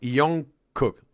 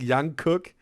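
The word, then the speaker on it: Jungkook: Oh, it's it's Yong Yong Yong Cook. So, not not like Yang Cook, but Yong Cook or the J.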